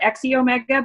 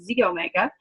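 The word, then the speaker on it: xEO Mega: you may call it EXCI Omega but it's like Xena Warrior Princess it's pronounced Z Omega and the Z Omega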